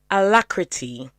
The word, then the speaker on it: alacrity: All right, so it's alacrity.